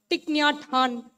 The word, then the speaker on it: Thich Nhat Hanh: Thich Nhat Hanh, that's how he's pronounced.